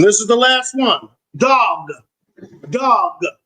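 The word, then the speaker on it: דג: Dog. Dog. It almost sounds like dog. Dog. Dog. Dog. Dog. Dog. Dog, which is spelled dag.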